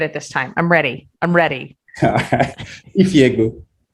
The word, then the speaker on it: Ifiegbu: Ifiegbu. Ifiegbu. Yeah, it's literally pronounced how it's spelled.